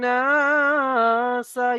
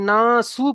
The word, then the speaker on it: الناس: ورأيت ورأيت الناس في دين الله أفواجا আপনি না সু পড়লেন, সিন যাবার সা, পড়েন ناس ওয়ারাআইতান নাসা رأيت الناس ইয়াদখুলুনা يدخلون ফি দীনিল্লাহি আফওয়াজা।